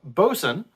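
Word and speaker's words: boatswain: would also take over for that person um bosun uh which is actually spelled boat swain but it's pronounced bozen was served underneath the first mate uh was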